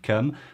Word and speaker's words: keum: are starting their careers it's spelled with a ka presumably because if you put a c in front of e-u-m that sound would have to be pronounced like some and keeping the ku is crucial to them personally i